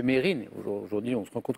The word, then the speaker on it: Mesrine: Puisque après des années à avoir dit tous Mesrine, on s'est rendu compte que lui-même le prononçait Mérine. Aujourd'hui, on se rend compte que c'est comme ça qu'on le prononce. Mais Mesrine, j'accepte bien sûr.